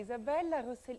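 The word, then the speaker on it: Isabella Rossellini: I say Isabella Rosellini.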